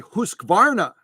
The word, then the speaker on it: Husqvarna: These were made by Husqvarna, 3 syllables, as she rightly pointed out in the last live stream.